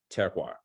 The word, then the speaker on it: terroir: And Shelley had a question about, so the earthiness comes from, and I'm going to mispronounce this word, terroir, T-E-R-R.